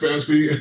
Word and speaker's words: FASB: It's pronounced FASB.